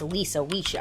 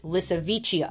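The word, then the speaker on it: Lisowicia: walking the planet, called Lissavicia, which I kept pronouncing as Lisa-Wicia in my head when I was researching, but it's Lissavicia.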